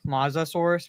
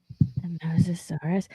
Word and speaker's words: Mosasaurus: Mosasaurus. Okay. So I like I almost thought you pronounced like mazaur mazosaurus moasaurus which an aquatic cre which is an aquatic creature. Mosasaurus.